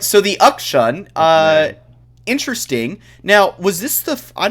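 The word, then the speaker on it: K'Sante: Jace, Viego, Rise, Ezreal, Rakan, and that was into, I'm going to pronounce this wrong, Ukshan, right? Is that correct? Yes. Ukshan, Sean.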